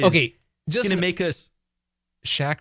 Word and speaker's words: Shaq: just gonna make us shaq rhymes with pack new pac-man boom no